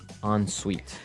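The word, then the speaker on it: en-suite: UI t e so even though it's e n we pronounce it like an o n yep on Suite so an on Suite bathroom is a bathroom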